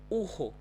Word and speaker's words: urro: We say in Portuguese, urro, urro. So let me pronounce one more time slowly. Corredor, morrer, amarrar, arroz, urro. Right? Simple. So it's just ha, just like at the beginning of the word.